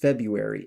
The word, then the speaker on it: February: So with something like February now some people pronounce it with the R but by and large it's just February and you drop that first R.